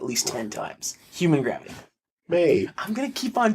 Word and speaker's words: Mei: It's May. I know. It's MEI. I know. It's not even like MAI where you could kind of see it being pronounced my.